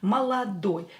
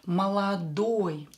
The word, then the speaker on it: молодой: But here we have oi, and we will use oi because the last syllable is stressed. Oi syllable is stressed. Молодой.